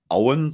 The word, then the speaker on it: Owen: Das kommt von der Bellerhof-Brennerei und die sitzt in Auen, so wird es ausgesprochen. Genau. Geschrieben wird es Owen, also das ist eigentlich ja schon fast schottisch, wenn man so möchte.